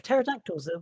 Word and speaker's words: pterodactyl: No, silent secondary P because uh M scientist like pterodactyls like pterodactyls in bathrooms. The the P is silent.